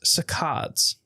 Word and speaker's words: saccades: So it's so it's a hard C. K, like the K sound.